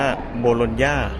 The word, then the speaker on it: Bologna: โบโลนญ่า อิตาลี นะ ฮะ ถ้า ภาษา อิตาเลียน ก็ จะ อ่าน ว่า โบโลนญ่า นะ ครับ แต่ ที่ อิตาลี